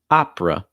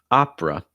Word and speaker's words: opera: the o and then the e is not going to be pronounced at ah it's like